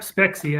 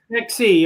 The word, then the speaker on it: Spexi: have in my garage, I have socks from Spexi, right? Now I'm saying it right? Yep, Spexi, I got it. Spexi, okay.